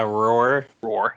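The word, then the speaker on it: Roer: one to be quiet it's it's r-o-e-r how would you pronounce that yeah roar okay it's it's roar like a lion but with an es7a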